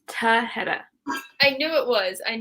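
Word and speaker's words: Tahereh: wrong and i'm so sorry it's tahedah i knew it was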